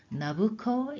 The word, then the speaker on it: Nebuchadnezzar: You know, Nabucco is another way to pronounce Nebuchadnezzar.